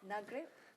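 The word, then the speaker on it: Nagrig: in Egypt I do apologize if I don't pronounce it properly nagri nagri nagri yes there I got it right a small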